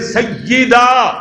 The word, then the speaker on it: سیدہ: میرے نبی واپسی دیاں تیاریاں کر رہے نے ادھر روز ہر روز سیدہ یاد تے زبر نہیں یاد ہے نیچے زیر سیدہ سمجھا جے ذرا تلفظ اپنا درست کرو سیدہ رقیہ رضی اللہ